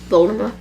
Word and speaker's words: Voldemort: It's gonna be silent.